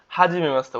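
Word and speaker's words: はじめまして: যে হাজী মেমাস্তে ওকে এখানে মাসিতে হবে মাসতে ওকে মাসিতে না হয় মাসতে তার মানে হাজিমে মাসতে আশা করি বুঝাইতে পারছি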